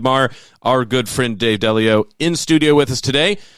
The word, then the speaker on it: Delio: you, to have thought, I said it wrong at first, I said Dave Delio, but then I thought your name is actually Dave Delio, so, you know, things develop, just like Newman said.